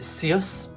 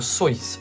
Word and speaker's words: Seuss: How do you actually pronounce Dr. Seuss's name? Is it Seuss, Seuss rhyming with moose, or Seuss rhyming with voice? I'm about to learn this. The answer is Seuss rhyming with voice, Dr. Seuss.